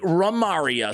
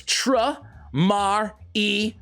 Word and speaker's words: Tramaria: Even some of you guys telling me that my pronunciation is wrong. It should be Ramaria. So I checked ChatGPT, which is always right. You know that, right? Always right. And they say it's Tramaria.